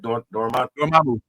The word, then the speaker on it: Dormammu: Dormammu.